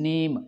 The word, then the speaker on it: name: ये जो नेम लफ्ज़ है ये 3 बना तो वैसे 4 लफ्ज़ों से है, NAME, लेकिन जो प्रोनाउंस हो रहा है ये 3 लफ्ज़ों से ही प्रोनाउंस हो रहा है, नेम।